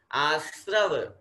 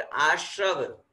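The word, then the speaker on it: आस्रव: जैसे प के नीचे र लगता है प्र, वैसे ही स के नीचे र लगा हुआ श्रय। आश्रव, नॉट आश्रव। बहुत से लोग आश्रव बोलते हैं, अशुद्ध उच्चारण हो जाएगा। श शकार वाला और र वो श्री में चला जाएगा, वो श्र वाला श्र नहीं है, यहाँ पे स के नीचे र है आश्रव।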